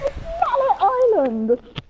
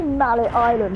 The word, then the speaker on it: Mallet Island: It's Malay Island! PlayStation 2 rendering. It's literally Mallet Island. They were like, how do we make this sound more fantastical? Pronounce it in French.